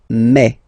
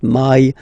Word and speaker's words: mai: In French, remember when you combine this a and then I vowels, you get the sound e. So really open e, okay, and then you pronounce it me. Okay, so don't pronounce I, don't try to pronounce it. No, it's me. So it's not my, it's me.